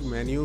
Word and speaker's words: मेनू: कुछ लोग मेन्यू भी इसको प्रोनाउंस करते हैं मेनू को, तो हम इसे मेनू कहेंगे।